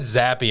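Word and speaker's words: Zappe: remember that name but you do know it's actually pronounced zappy right zappy it's actually pronounced happy i always thought it was zap i'm a terrible fan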